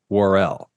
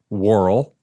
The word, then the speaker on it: Worrell: Ernest pronounces it Worrell, but Mr. Story, who is an actual news anchor, by the way, not his birth name, we'll get to that later. He says Worrell.